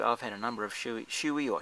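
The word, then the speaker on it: Shoei: I think it's spelled S-U-O-M-Y, and in the shoe, I've had a number of shoey or showy helmets, whatever it is, however it is you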